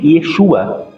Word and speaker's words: Yeshua: Então a pronunciação mais cercana seria Yahshua ou Yahoshua, e também Yeshua, que muitos falam também, que há um conhecimento que diz que isso vem também do arameu.